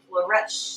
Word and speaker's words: Flourish: That's how you say it. Flourish. Flourish. like flesh and fresh.